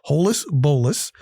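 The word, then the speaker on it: holus-bolus: one lump and that's holus polis i love it it's an adverb polis h-o-l-u-s-b-o-l-u-s and it's not two words it's one word i love it four syllables holis bolus it's an adverb and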